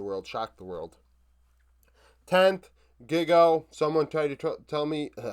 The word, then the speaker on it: Giga: 10th, Giga. Someone tried to tell me, somebody told me in the comments, pronounce the first part like gigabyte, which would be gig, and then O. So Giga.